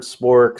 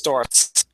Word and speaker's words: Sztorc: It's a completely different letter that's pronounced TS. Wow. So, it's STOs.